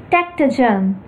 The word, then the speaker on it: Takhtajan: Armen Leonovich Takhtajan or Takhtajan, pronounced as Takhtajan, born on the 10th of June in 1910 and died on the 13th of November 2009.